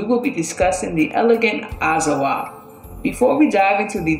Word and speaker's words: Azawakh: The singular pronunciation is Azawakh, and the plural pronunciation is Azawakh, and the K is silent.